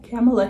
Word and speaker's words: Kamala: Kamala Harris?